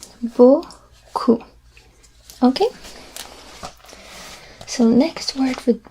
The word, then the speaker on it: beaucoup: And as you can see here, the P at the end is silent. Beaucoup.